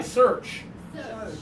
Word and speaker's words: search: forward and open her a lot of students accidentally do ah ah and that's not it it's not it's not such it's per search okay okay you can give it a try search really good job with